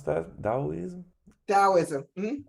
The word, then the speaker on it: Taoism: This third one, how do I pronounce that? Taoism? Taoism. Mhm. Taoism.